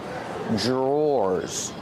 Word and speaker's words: drawers: These are called drawers the pronunciation is not like the spelling pronunciation Dr makes a j sound J J plus the r together J drawers or like door and floor drawer one drawer two